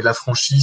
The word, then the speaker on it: Lafranchis: Je pense par exemple à Tristan Lafranchi qui a écrit un certain nombre d'ouvrages. Vous les trouverez. Hein, donc, vous tapez Lafranchi, ça s'écrit Lafranchis.